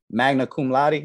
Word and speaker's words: magna cum laude: Magna cum laude, is that how you say it?